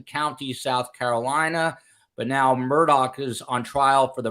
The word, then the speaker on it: Murdaugh: is in fact the southernly southern way to pronounce it so you'll be hearing me say Alec Murdoch now he is as you know a once